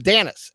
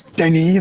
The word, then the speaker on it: Danis: me on I mean officially it's Denny that's the French pronunciation I am french-canadian after